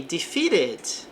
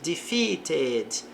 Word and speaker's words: defeated: Defeated. Posso trocar o T por som de R.